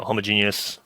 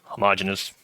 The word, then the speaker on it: homogeneous: and I can never decide which one is correct. And then at some point I read that both are correct, but then I sometimes say that, sometimes say that. So homogeneous, homogeneous, either one spelled the same.